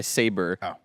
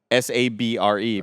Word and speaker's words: Sabre: the show The Office they get bought up by saber s-a-b-r-e but they think it's pronounced Sabre and so they're like here in the USA we're partying with thunder Mifflin and Sabre the saber are you sure it's not saber sorry and like that's exactly